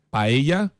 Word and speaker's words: paella: Paella, Paella, sim. e dizem que você pode pronunciar paeja também. Paella. Paeja. Na Argentina, a LL não se usa.